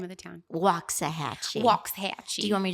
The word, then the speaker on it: Waxahachie: Waxahachie. Waxahachie. Do you want me to spell it for you?